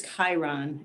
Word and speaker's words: Chiron: It's Chiron, and it is almost always mispronounced.